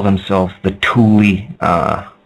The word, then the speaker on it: Thule: to call themselves the tully uh like t-h-u-l-e but pronounced t-o-o-l-i-e that's what atlantis was